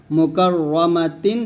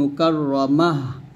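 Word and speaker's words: مكرمة: মুকাররামাতিন থামলে হবে মুকারমা। এখানে আমরা একটা ভুল করি সেটা হচ্ছে আমরা তার উচ্চারণটা যখন হা সেকেন্ড করি তখন হাটা স্পষ্ট ক্লিয়ারলি আনি না আমরা এটা আনতে হবে না আনলে কিন্তু বড় ভুল হবে মুকাররামা মুদ্দা মুমাদ্দাহ এরকম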